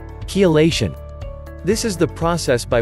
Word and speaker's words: Chelation: First, pronounce it correctly. Chelation.